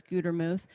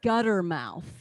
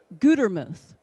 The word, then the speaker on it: Gutermuth: it and they'll say gutter mouth it's really annoying it really makes me mad it does you know they can't even pronounce a simple word right one t makes a long u gutermuth it's easy yeah right